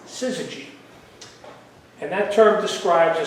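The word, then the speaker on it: syzygy: high waters during the storm was something called Siz that's spelled s y z y g Y siy and that term describes a Celestial lineup of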